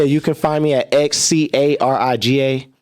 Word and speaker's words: xCariga: Oh, yeah, you can find me at XCARIGA. The X is silent for Kuriga.